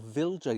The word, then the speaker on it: Wilja: A new variety to me this year called Wilja, or Vilja you might pronounce it, Wilja.